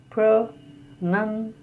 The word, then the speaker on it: pronunciation: The next is pronunciation, pronunciation, and the stress is on A.